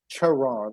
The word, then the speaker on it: Charon: Charon, like cherry, Charon.